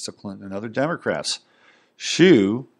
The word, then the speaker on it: Hsu: This was discovered following the arrest of Norman Shue, a wealthy businessman who was able to raise $1.5 million in campaign contributions to Clinton and other Democrats. Shue, that's spelled HSU, was charged with operating a $60 million Ponzi scheme and imprisoned.